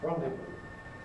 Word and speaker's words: rendezvoused: Because if we rendezvous if you like, the last sound is a voiced sound, so for the past tense we have D, rendezvous.